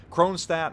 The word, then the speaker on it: Kronshtadt: important question Kronstadt and yes I am NOT pronouncing it and it's complete Russian glory I am Americanizing the name for the ease of me getting it out of my mouth chrome stat or Musashi and this